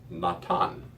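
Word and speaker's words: נָתַן: So now it is, instead of not na, it is pronounced natan. Natan, which makes it masculine.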